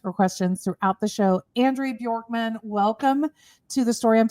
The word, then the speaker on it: Andrea Bjorkman: And thank you for pronouncing my my name correctly, Andrea Bjorkman.